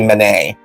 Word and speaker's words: Men: Did they just spell it M-E-N? Yeah. Oh. Yeah. Okay. That's why it took me a second.